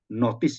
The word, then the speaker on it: gnosticism: Nah, sebelum kita belajar firman Tuhan dan khususnya sejarah gereja, itu ada satu aliran yang bernama gnosticism, ya, gnotis atau notis ya, kalau bacanya tuh G-nya nggak dibaca, gnosticisme.